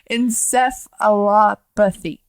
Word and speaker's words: encephalopathy: learned something today uh did you learn how to say encephalopathy no because i sure didn't encephalopathy there we go is it telepathy encephalopathy